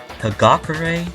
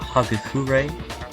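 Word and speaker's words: Hagakure: entire time right kagakurei not haku fury but my name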